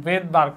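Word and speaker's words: Svedberg: এস ভিই ডি উনার নামটা হচ্ছে এরকম ভেদবার্গ ডি ও আরজি তো উনার নামটা শুরু হয়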